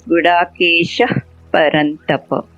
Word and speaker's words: गुडाकेशः परन्तप: When I say Gudakesha, you get a slight F sound, not exactly F, but when there is a P after a Visarga, you get this Gudakesha Parantapa.